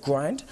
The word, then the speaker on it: Grynd: never been done before again um it's called grind now this is going to be down the